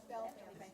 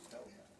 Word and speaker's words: Belleville: Isn't it really called Bell Valley, Beautiful Valley, isn't that the correct pronunciation? Belleville. It should be Bell Valley.